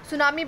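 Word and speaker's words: tsunami: से टूट गया था सुनामी बेटा एक प्रकार का जापानी शब्द है जिसमें 30 साइलेंट होता है इसका मतलब होता है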